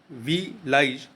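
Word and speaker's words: Belize: रहा है यही है वी लाइज देश या विलेज, वी लाइज आप उच्चारण कर लीजिए।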